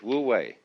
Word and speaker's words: wu wei: and so the Taoist manner of life is Wu way okay Don't Force It always go with the